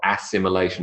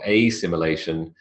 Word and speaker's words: assimilation: assimilation notice in Brackets you've got the schah that unvoiced common sound at the in the penultimate phon and the first phon is also aw it's not assimilation or as similation it's assimilation quote the process of taking